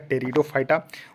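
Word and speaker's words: Pteridophyta: देखिए थैलोफाइटा ब्रायोफाइटा टेरिडोफाइटा यहां देखिए पीस साइलेंट है तो इसको पढ़िएगा टेरिडोफाइटा उसके बाद यहां पर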